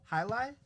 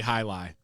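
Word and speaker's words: Hialeah: highlight? It's how I pronounce it that went smooth. I thought it was highlight, right? I don't. It's Highley. definitely high lie.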